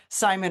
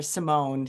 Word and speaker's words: Simon: Simon or Simone is actually the French pronunciation for his name.